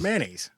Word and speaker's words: mayonnaise: That's the way to say it. Correct. We all say mayonnaise. I tell you I mayonnaise. It's two syllables.